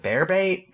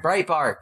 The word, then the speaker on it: Breitbart: It's just go swim in that cesspool if you would like and learn about, you know, was it bear bait? How do you say that thing? Breitbart? Breitbart, that's it.